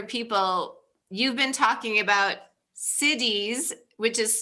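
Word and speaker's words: siddhis: you first said you wanted to talk about cities i thought you were talking about towns cities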